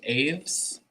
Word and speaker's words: Aves: um so i use i think it's pronounced aves a v e s um obviously it's a